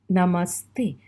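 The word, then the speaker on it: नमस्ते: a general salutation and you say it like no ma hey namaste so the word goes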